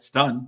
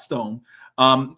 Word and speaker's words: Livingstone: a Ryan Wingo or Parker Livingstone. Not a Parker Livingston, excuse me. Now we've got the new pronunciation guide, Stun, not Stone.